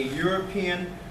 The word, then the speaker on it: European: A European, because we've got a consonant sound there. See, the E is silent in Europe.